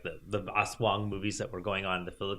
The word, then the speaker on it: aswang: But I always want to ask this question first of all, I'm glad I didn't pronounce it asswap because asswang because you're gonna die if you're gonna die if you call them an asswang.